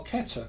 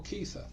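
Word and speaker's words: כתר: So Kaf, K, Tau, TH, and Resh are Keter or Kether.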